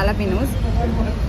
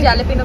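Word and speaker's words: jalapeño: वाली इसको बोलते हैं एला पिनो आपने खा बहु लोग जेले पिनो भी बोलते हैं पर जेले पिनो नहीं होता उसका नाम एलाप पिनो होता जे साइलेंट ओके तो आपने पिज्जा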